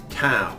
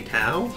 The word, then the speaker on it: tau: And it's named tau. Say tau.